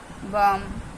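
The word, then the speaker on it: balm: क्लम बलम तो सॉरी तो इसको बोलेंगे टॉक वक कम बम ठीक है हम एल नहीं बोलेंगे बलम नहीं बोलेंगे कलाम नहीं बोलेंगे हम बोलेंगे काम बाम ठीक है तो हमारा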